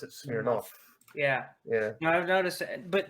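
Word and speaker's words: Smirnov: in russian it's spelled smear nov but you pronounce it smirnoff yeah yeah i've noticed but the thing is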